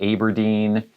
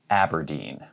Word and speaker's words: Aberdeen: is fairly simple but i have heard some people say aberdeen it's aberdeen aberdeen here's one that i